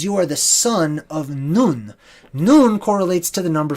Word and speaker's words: Nun: None can also be spelled N-U-N. None, right? Now, N-U-N is properly pronounced Nun, okay?